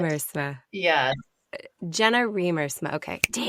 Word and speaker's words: Riemersma: Is it Jenna Riemersma? That is so close. Okay. That's what it looks like, how it's spelled, but it's pronounced Riemersma. It's Dutch. Riemersma.